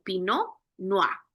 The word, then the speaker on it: Pinot: Y a la hora de pronunciarlo, acá pronunciamos la R un poquito más elegante, más suavemente, sería algo como pinoa, ¿verdad? Sin sin mucha fuerza.